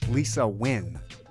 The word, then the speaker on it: Lisa Nguyen: Season 2 with Lisa Nguyen of Telehue Foods, right? Yes. Yes. You pronounced it correctly.